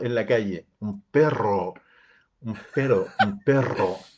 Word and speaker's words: perro: porque llega acá y me dice vi un pero en la calle un perro un perro un perro y ahí y ahí